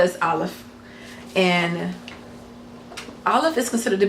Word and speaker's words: Aleph: So it's the same thing like with Aleph. So for all practical purposes, it's considered to be a silent letter.